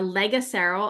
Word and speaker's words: Legero: um so it's the legero I'll spell that out it's l e g a c like Legacy and then e r o so all one word legero end of life Planner